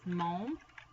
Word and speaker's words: mon: But in order to say my, there are 3 ways, and it is mon, ma, or may. That's how you pronounce them.